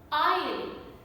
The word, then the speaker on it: aisle: Aisle, I-S-L-E, aisle.